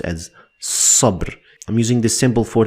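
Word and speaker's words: صبر: two parts but they are separate and it's pronounced as sub I'm using this simple for the sod to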